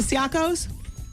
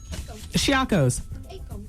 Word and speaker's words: Caicos: Turks and the, how do you say it, Siakos? Shiakos. Caicos?